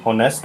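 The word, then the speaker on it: honest: For example, an ऑनेस्ट मैन, an hour. इन दोनों ही words में एच जो है वो साइलेंट है, इसलिए एन आर्टिकल लगा।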